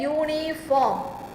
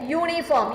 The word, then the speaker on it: uniform: We use A before a vowel pronounced as Y so as in a uniform. A uniform. You see the sound of this particular U is here, Ya. Have you heard Ya?